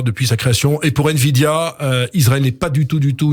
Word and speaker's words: Nvidia: Et puis, nouvelle acquisition israélienne pour un groupe américain, Nvidia, je prononce bien, Eric ?